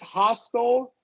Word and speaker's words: hostile: So yeah, this hostile, for example, is pronounced the same way as HOSTEL, hostile. Same pronunciation.